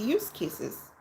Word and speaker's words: use case: Now it's casing out the use cases. Talk about disagreement. People have argued and bickered about use cases for years. The term use case, pronounced with a soft S as in use, it's just like, oh,